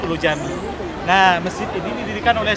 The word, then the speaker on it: Ulu Cami: Sebagaimana yang saya bilang tadi, bahwasanya pronunciation C di sini menjadi J, Ulu Cami menjadi Ulu Jami.